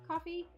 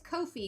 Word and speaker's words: Ko-fi: forgot so Kofi Kofi coffee Kofi no that's right it's Kofi because it rhymes with noi um but anyway uh